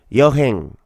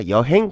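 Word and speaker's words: 여행: か旅行は 4 辺ヨハンと言いますちょっと発音しづらいかもしれませんが予編と言いますよ覚えてくださいヨハン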